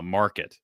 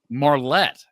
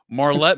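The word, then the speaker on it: Marlette: Michigan because you actually said you're from uh Market. Am I right in saying is that how you pronounce it? Market Marlet. Marlet. All right. We've already screwed up twice in this interview. Marlet, Michigan.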